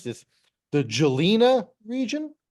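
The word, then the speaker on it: Žilina: oh let's I don't even know how to pronounce this the jelina region z i l i n a the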